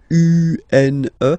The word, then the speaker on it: une: Then the feminine article is here, and it's easier because if you have this U, N, E, then you pronounce it une.